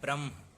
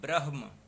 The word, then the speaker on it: ब्रह्म: होगा वह सही है ऐसे ही गलत तरीके से लिखा जाता है ब्रह्म जबकि सही उच्चारण होता है ब्रह्म भैरवधाम वह जो यह